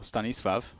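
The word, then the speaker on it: Stanisław: Oh, that's a nice shot from Stanislaw though, or Stanisvav. Oh, apparently that's the correct pronunciation.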